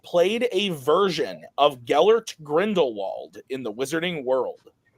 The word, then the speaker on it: Grindelwald: in The Wizarding World sometimes it's pronounced grindal sometimes that like in that W makes sound you think that's because someone read the name once and they were like that's two v's it must be V probably that adds up